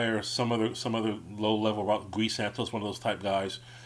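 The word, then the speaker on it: Gui Santos: Quentin Post, like that guy, or some other low level Guy Santos, one of those type guys, would have to be moved out. And I just remember someone mispronounced his name as Guy Sanchez.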